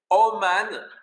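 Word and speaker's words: אומן: Faites attention, ça s'écrit avec 2 kamat, mais ça se prononce O.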